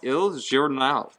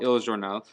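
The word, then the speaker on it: Il Giornale: Anyway, Starbucks used to be called Il Journal. Is that how you pronounce that?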